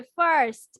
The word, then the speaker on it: first: ফার্স্ট, First, second, second, third. Third. Yes. ফার্স্ট উচ্চারণ করবে না, কি উচ্চারণ করবে? রটা উচ্চারণ হবে ফার্স্ট।